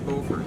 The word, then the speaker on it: Beaufort: to beaufort north carolina beaufort i think beaufort i think is the correct pronunciation there for north carolina and from there we